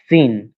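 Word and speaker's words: سين: হ্যাঁ, তিন দাঁতের উপর তিন নোক্তা হলে শিন, আর নোক্তা না হলে সিন।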